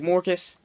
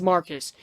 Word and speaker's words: Marcus: mortis mortis right really he pronounces it like mortis but his name is Marcus I pronounce it either Marcus or more yeah it's Marcus he says his name